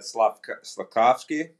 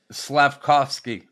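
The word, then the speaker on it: Slafkovský: this morning and I'm probably gonna say the kid's name wrong with that slekovsky the first yeah yeah how do you say that slavkovsky yeah yeah I got a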